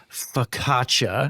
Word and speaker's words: focaccia: And she said, "It's focaccia."